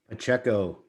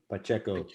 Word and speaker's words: Pacheco: today um it will please help me pronounce your last name please pacheco pacheco pacheco is a great friend of mine just that